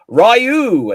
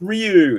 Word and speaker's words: Ryu: Or Ryu as I should say. Do you know what? Damn. That original Street Fighter Vang Dam movie, the character goes Rayu.